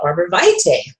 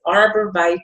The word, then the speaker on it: arborvitae: today our oil highlights going to be arborvitae and that is the way you pronounce it some people pronounce it a different way I have heard from the company directly that it is arborvitae a so if you're pronouncing it some way